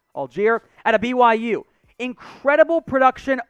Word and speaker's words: Allgeier: Another running back here, Tyler Allgeier. That is how it's pronounced, by the way. It doesn't look like it. That is how it's pronounced. Allgeier out of BYU.